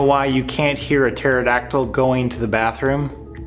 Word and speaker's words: pterodactyl: you can't hear a pterodactyl going to the bathroom because the P is silent amen this is your